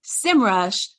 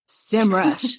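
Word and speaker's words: Semrush: is here but I'm also excited that you pronounce simrush simrush so anyway so thank you for being here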